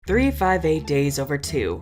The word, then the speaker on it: 358/2 Days: 358 days over 2. Yes, that is how it's pronounced, and it's very confusing, but goddamn I love this title, so all y'all can right off.